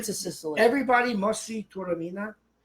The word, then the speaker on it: Taormina: Everybody must see Taormina. Turamina.